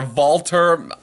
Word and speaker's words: Walter: language is pronounced differently because W is pronounced as a V in this matchup now